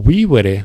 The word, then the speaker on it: vivere: E aí, para completar o verso, a gente pode olhar no dicionário, consultar que o verbo vivere, né? Vivo, tem um I longo.